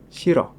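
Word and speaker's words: 싫어: Dan saat double bacim real dan hiyet bertemu dengan huruf vokal, maka akan dibaca keduanya. Shiro. Shiro. Iro. Iro. Double bacim berikutnya ada kombinasi dari biyep dan syad.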